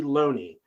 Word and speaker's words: Looney: Loney, spelled Looney, but I promise you, they made sure I pronounced it Loney, not Looney.